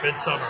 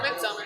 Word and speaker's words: Midsommar: were talking about midsummer How do you pronounce the movie? Midsummer. Midsummer. Come on, man. Pay attention. But it's spelled like Sommar.